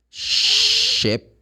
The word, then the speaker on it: ship: Like, for example, I would say, okay, ship, the same sound of she, sh. That's the symbol I showed, the symbol that we have here for the sound of the third one, sh, the snake one between, that's not a snake, but that's the symbol. The phonetic symbol, it seems like a snake. But that's the sound, ship. A ferry boat is a ship. If you change to sheep, is the animal, meh.